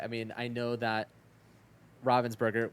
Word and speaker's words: Ravensburger: mean I know that Robin's burger which I found out how to pronounce properly there because for the longest time I called them Ravensburger um it turns out